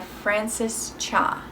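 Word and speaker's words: Frances Cha: and that's if i had your face by francis cha that's how you say it this has a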